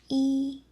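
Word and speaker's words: 一: Normally the number one is pronounced E. But in real life when native speakers speak room numbers, phone numbers, ID numbers, emergency numbers, room numbers, Chinese people always say one. Yo yo yo.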